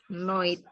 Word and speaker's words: night: Night. Night. Ya. Tapi kalau American style, night. Night. Ya, night. GH-nya nggak dibaca.